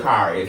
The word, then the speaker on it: Kharis: It'll be everything but Kharis. Everything and but Kharis. sometimes I would stop and be like, it's Kharis.